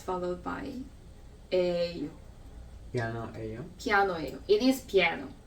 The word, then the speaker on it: 예요: And then the other way is it's actually 이에요, but we just speak 에요 because it's difficult to pronounce 예요. We just say 에요.